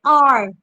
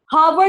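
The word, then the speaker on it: hour: जैसे आर, घंटे को कहते हैं ना हम आर, हावर या आवर नहीं पढ़ते, उसको हम कहते हैं आर।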